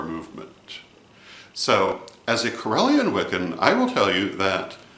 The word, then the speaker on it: Wicca: bear in mind that there are two words pronounced Wicca one has one c w i c a one has two C's w-i-c-c-a and they are not the same Wicca with one C